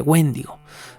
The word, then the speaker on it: wendigo: el acento este donde debería tenerlo si fuera una palabra esdrújula no wendigo entonces creo que lo llamaré más bien wendigo aunque a ratos tengo la costumbre de decirle wendigo porque esa es la pronunciación digamos americanizada wendigo no entonces que ese